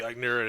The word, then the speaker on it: Eichner: But then also we have Billy, how do you Billy pronounce this? Eichner.